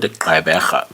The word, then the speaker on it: Gqeberha: So I hear some people kind of like it when I say this word Gqeberha because it has a click sound.